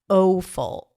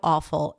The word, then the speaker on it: awful: It's not audio. It's not aful. It's not low. It's audio awful and law.